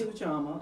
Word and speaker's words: Ujima: First of all, we've got to learn how to say it. There is Ujima.